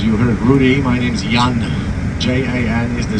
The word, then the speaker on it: Jan: As you heard Rudy, my name's Jan. Jan is the spelling and Jan is the pronunciation.